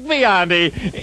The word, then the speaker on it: Biondi: And now, ladies and gentlemen, the one and only, the great Dick Biondi. Yes, and I pronounced his name correctly, didn't I?